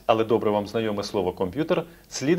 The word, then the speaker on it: комп'ютер: Можливо, ви будете сміятись, але добре вам знайоме слово «комп'ютер» слід вимовляти не так, як ви до цього звикли. Треба казати «комп'ютер» без апострофа, не пом'якшучи букву «П».